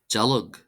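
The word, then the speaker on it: dealg: Then we have jalog. Jalog. Jalog. Jalog. Jalog. Jalog meaning thorn or spine. This is pronounced as if it were spelled d e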